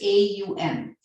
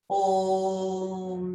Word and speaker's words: Aum: So it's A-U-M. So the way I say it is Aum, in that way, and not Om, because you're missing out one essential syllable if you say it that way, right?